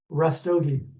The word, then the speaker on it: Rastogi: say your last name rustogie rustogi just like it's spelled he's you know um